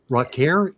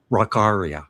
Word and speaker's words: Rockaria: Rocker. Is that how you say it? Rareria. Rakaria. Rockaria. Okay. Ara.